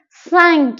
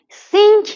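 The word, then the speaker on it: cinq: سک سک سک سک سینک نیست سینک اشتباهه سک چرا نکته تلفظیش اینه که ای و ان در زبان فرانسه وقتی در کنار هم قرار می‌گیرن این نیست مثل انگلیسی نیست به هیچ عنوان من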